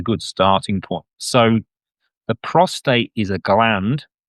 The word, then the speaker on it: prostate: I've been told off for not saying it right, so prostate.